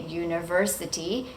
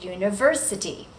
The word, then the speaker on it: university: We don't say university, we say university.